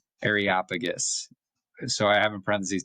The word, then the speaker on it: Areopagus: I used to say this as Aeropagus, but my mom corrected me and my dad that the proper pronunciation, and they're right, is Areopagus.